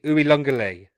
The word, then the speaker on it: Uiagalelei: It's something like Uiagalelei. Is how it's pronounced. DJ Uiagalelei. There's a weird N in the middle that's not actually in there.